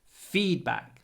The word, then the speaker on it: feedback: feedback Feed plus back it's a compound noun with compound nouns in Russian the stress is always on the second syllable notebook feedback RAC in English it's always on the first syllable feedback notebook rsck so